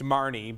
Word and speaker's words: Marne: viewer reminded us that this is pronounced marnie but yeah i see where